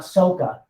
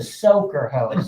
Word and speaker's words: soaker: soaker hose soa k k e r it's pronounced silver hose not soca i used to work with somebody that would pronounce it that way drill me nuts i'm like she's not called a soca hose it's a soaker hose okay now what i